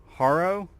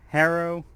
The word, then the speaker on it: Haro: the way we pronounce, we either pronounce it Haro, Harrow. I don't care. It's a name. Just say it however you want to say it.